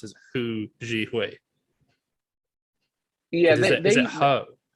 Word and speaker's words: Hu: So first of all, my Chinese pronunciation is worse than some of my other ones. Yeah. But they pronounce it more like ho than right, like okay. Hu Yeah. or something.